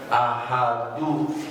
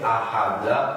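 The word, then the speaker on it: أحدُ: Maka harus dibacanya ahadu, tidak boleh ahada atau ahadi.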